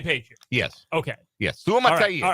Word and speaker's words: Suamataia: But the other big concern was the benching of Kingsley Suamataia. How can I not pronounce his name right?